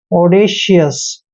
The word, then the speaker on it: audacious: दोस्तों AU का उच्चारण ओ करते हैं, ऐसे ओ, और डी का उच्चारण डे करेंगे, ए को ए की मात्रा पढ़ते हैं। सी का उच्चारण शे करेंगे, आई को ई की मात्रा पढ़ते हैं और ओ यू का उच्चारण यहाँ पर यह करेंगे और एस को शे पढ़ते हैं।